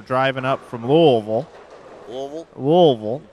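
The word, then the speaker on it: Louisville: those guys were driving up from louville louville louville pronounce it right and uh they were on their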